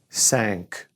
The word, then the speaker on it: cinq: Now, 5, cinq, cinq.